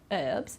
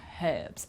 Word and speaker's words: herbs: I've put us because in American English they don't pronounce the H this herbs but in British English there we will pronounce pronounce the H like herbs ok but I think